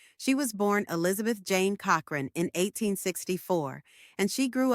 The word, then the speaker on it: Cochrane: Growing up, she wanted to portray herself as more sophisticated, and she changed her surname to Cochrane with a silent E at the end.